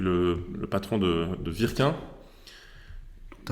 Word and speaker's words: Wirquin: W du nord de la France se prononce V.